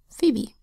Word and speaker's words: Phoebe: Phoebe is spelled with a capital P, lowercase h, and then OE, which in words of Greek origins says E, and then B, E, F, E, B, E. Say it fast, Phoebe.